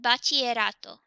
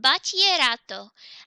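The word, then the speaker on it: bachillerato: el bachelor Otto remember the Double L in Spanish makes a yes sound so it's pronounced L pas te rato and Battier Otto and Battier Otto and we need to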